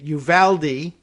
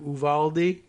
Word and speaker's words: Uvalde: school resource officers in, as the Anglos say it, Uvalde, and everybody else might give a more maybe Spanish pronunciation of Uvalde, but Uvalde is apparently what the internet says it is.